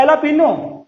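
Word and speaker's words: jalapeño: जे silent है यहाँ पर और इसे पढ़ते हैं एलापिनो, एलापिनो, और इट इज प्रोनाउंस्ड मैरिजुआना।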